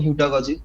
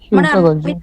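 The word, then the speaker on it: heutagogy: না না হেটাগজি বললাম ওটা হ্যাঁ ঠিকই আছে তোমার ন্সার ঠিক আছে আমি বললাম তোমার উচ্চারণটা ভুল আছে ওটা আমি তোমাকে ঠিক করে দিচ্ছি যে ওটা হবে হিউটাগজি আচ্ছা আচ্ছা বলুন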